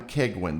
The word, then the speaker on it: Keigwin: We've got um Adam Keguin. Did I pronounce that correctly?